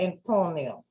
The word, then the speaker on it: Antonio: Wait a minute, you gotta say it right, Antonio. Antonio. What was wrong with her? What was wrong with her mouth? Just say Antonio. Antonio. Yeah, she had to roll it.